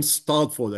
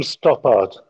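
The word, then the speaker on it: Stoppard: famous play writers in the 20 Century Tom stford I hope that I I pronounce his name right who wrote a whole play Tom topart topart thank you to yeah I think it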